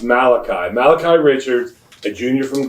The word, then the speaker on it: Malachi: Nemesis of Fonzi on Happy Days but it's pronounced Malachi Malachi Richards a junior from Glendale are week